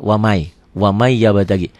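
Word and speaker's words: وَمَن يَبْتَغِ: Ditulisnya waman, dibacanya wamai.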